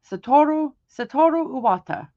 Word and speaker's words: Satoru Iwata: Satoru Iwata.